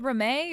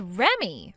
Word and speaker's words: Remi: You're supposed to read that as Remy. Remy. So, your name is Remy? It's spelled Remi, but you read it like Remy.